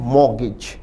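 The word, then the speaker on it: mortgage: पर भी ध्यान दें उच्चारण है मॉगेज टी नहीं बोला जाता मगज का अर्थ है गिरवी रखना रखना।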